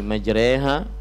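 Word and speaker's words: مجريها: bahwa Hai pengucapan bismilahi majreha wa mursaha kemudian juga ada dari lafadz-lafadz yang lain padahal tulisannya majroha Kenapa dibaca majreha Ini semua adalah riwayat hafs dari ashim jadi memang eh alsim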